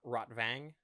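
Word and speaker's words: Rotwang: And so he takes the map fragments to his old buddy Rotvang, not Rotvang. I guess Rotvang would be the more accurate pronunciation.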